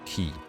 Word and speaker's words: ki: to feel and manipulate ki. By understanding the flow of strength and vitality through your body, you can heal your own ki by stealing your enemies. It's pronounced chi, by the way.